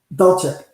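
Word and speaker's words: Dulcich: Dolchik.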